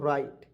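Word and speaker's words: write: यहां पे हम दोस्तों डब्लू को साइलेंट करते हैं और आर आई टी इसको पढ़ते दोस्तों राइट क्या पढ़ते हैं राइट पढ़ते हैं और राइट मीस होता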